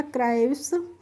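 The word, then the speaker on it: cribs: आर आई बी एस सी आर का हो जाएगा क्र, और आई का यहाँ पे प्रोनाउंसिएशन हो रहा है आ, और बी एस का हो जाएगा स करके, ठीक है। तो ये हो जाएगा क्राइव्स।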